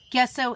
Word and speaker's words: gesso: Gesso is the J sound.